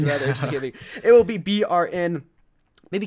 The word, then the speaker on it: BRN: Kuza told me to call him BRN because that's the proper way to say him, because Kuza means something else in his language.